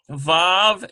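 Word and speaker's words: ו: So Vav is pronounced like V in vine.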